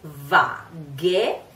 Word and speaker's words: vaghe: So in our pronunciation, it is a Z. So one of the two. So, le tue vaghe, vaghe.